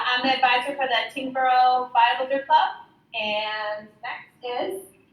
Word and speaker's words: Tyngsborough: Tyngsborough, right? Is that how you pronounce it?